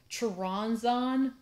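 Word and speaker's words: Choronzon: So like his name, I never say his name correctly, but it's Charonzon.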